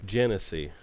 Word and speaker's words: Genesee: Genesee. The Genesee River. Genesee River. And that's how you pronounce it, folks.